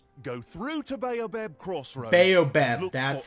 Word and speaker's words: Baobab: Baobab, that's how you pronounce it.